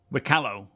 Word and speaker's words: Wikelo: see that Elliot clarified how you say wo because everyone's saying it differently was annoying him it rhymes with Picolo wo okay if you want